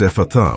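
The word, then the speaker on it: Ephphatha: It is pronounced Ephatha with the emphasis on the last syllable.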